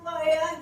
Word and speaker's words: फयान: अपनी स्पेलिंग शुद्ध कीजिए मेरा नाम फयान है आई फैन नहीं ठीक है ठीक है